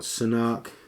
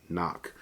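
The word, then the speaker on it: CNOC: So either it's a hard Sanok life or a hard knock life. So I'm assuming they pronounce this thing knock.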